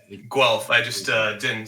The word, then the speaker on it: Guelph: place that you're from not apple blue elf it's guelph apparently yeah it's guelph i just uh didn't